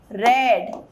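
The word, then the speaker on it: read: Subject पहले I have has, I have, verb का third form रेड books. सी रीड जो है ना, रीड प्रोनाउंसिएशन में इट्स रीड, रेड रेड.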